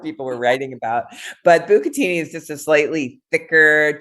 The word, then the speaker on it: bucatini: And the pasta is, do you say it bucatini?